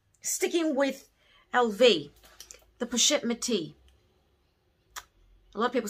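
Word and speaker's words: Métis: with lv the pachette methi a lot of people say matisse but it's not you don't pronounce the s unless there's an e on the end so it's push it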